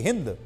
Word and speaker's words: हिंदू: जाता है की क्योंकि फारसी भाषा बोलने वाले लोग एस का उच्चारण हा से करते थे इसलिए सिंधु शब्द हिंदू शब्द में बादल गया वो बोलना तो चाहते थे सिंधु लेकिन सा नहीं बोल पाते थे इसलिए उन्होंने हिंदू बोलना शुरू कर दिया और जो